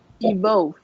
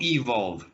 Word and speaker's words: evolve: Evolve. Not evolve. We pronounce it like an I.